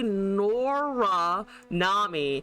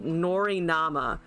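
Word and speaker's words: Norra Nami: I'm not going to pronounce it correctly. It's supposed to be Nora Nami, and I said Nori Nama.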